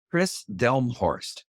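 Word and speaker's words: Kris Delmhorst: know it's can you say her name again Chris delmor d l m h o r s t and Chris is spelled k r i s and I remember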